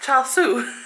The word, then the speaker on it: char siu: It is pronounced char siu.